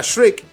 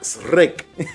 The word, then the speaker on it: Shrek: jungla de cristal o la pronunciación aquí era Shrek, allá era Srek.